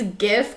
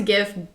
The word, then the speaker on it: GIF: so I pronounce the GIF GIF because it's one letter off from being gift but I understand why